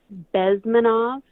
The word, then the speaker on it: Bezmenov: His name's Yuri Bezmenov. I think I butchered that, but it's Bezmenov.